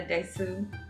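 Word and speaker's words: です: And my name is, I would probably say, Desu. Des. Oh, I don't pronounce the U.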